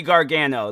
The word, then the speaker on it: Gargano: Let me just make sure I'm pronouncing it right. Johnny Gargano, like that.